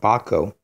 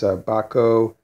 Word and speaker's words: Bahco: the more brand and it's called bako I believe that's how you would pronounce it bah co ba co and these are made